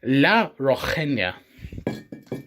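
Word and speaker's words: La Rojeña: I can pronounce words. So it's La Rojena.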